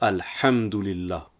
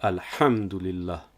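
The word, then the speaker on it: الحمد لله: plus accentué comme dans alhamdoulilah ce n'est pas al hamdoulilah mais bien à la hamdoulilah ou encore à écrire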